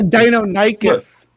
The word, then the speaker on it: Deinonychus: I just he's a Deinonychus, not a Dinocurus. Seriously, I loved this word and I kept pronouncing it petrichor, and then I found out